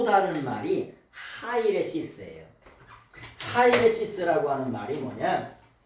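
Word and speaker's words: αἵρεσις: 하이레시스라고 하는 말이 뭐냐? 하이라이스가 아니라 예, 하이레시스예요.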